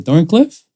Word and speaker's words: Thorncliffe: with me it's a thorn Cliff thorncliff yeah it is you don't pronounce the last team I don't know the why when it's there but in Thorncliffe now